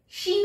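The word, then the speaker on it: Chine: ट ट चाइना चाइनी शीन फ्रेंच में चाइना को शीन कहते हैं शीन किसी के सिस्टर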